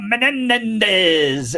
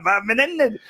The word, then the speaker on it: Menendez: for him and he Ted didn't know how to pronounce his name so he goes Bob menz and it just s it sounds like a little motorcycle Menendez so Bob Menendez Democrat